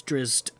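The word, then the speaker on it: Drizzt: know how you say is it drizz tea drizzed drizzy i always thought it was drizzy it's drizzed i'm pretty sure it is the guy who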